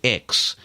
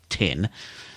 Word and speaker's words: X: going to be pronounced X like Xcode and so when we were sitting there waiting for the iPhone it and in fact you pronounced at 10:00 it's a Roman numeral tin now this has the